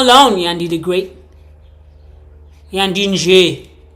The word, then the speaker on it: Yandie: Yandie. The Y is silent.